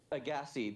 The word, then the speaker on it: Agassiz: Yes, in Agassi, that is how you pronounce it. But when you add a vowel after that, you pronounce the Z. So it's Agassizotis. It's like when you add an E after an S in French. The S Yeah, is silent, okay. but when you add E, you say the S.